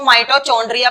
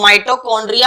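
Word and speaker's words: mitochondria: कुछ लोग इसको माइटोचोंड्रिया पढ़ते हैं, तो वो गलत है। चोंड्रिया नहीं बोलेंगे, खाने का उल्टी सीधी बात करते हो। तो माइटोकॉन्ड्रिया हम इसको बोलते हैं, और माइटोकॉन्ड्रिया ही सही प्रोनाउंसिएशन इसकी होती है।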